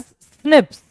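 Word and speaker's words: SNP: They are pronounced as स्निप्स।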